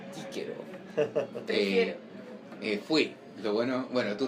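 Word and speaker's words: Cicero: No es Cicerón, prefiero Quíquero.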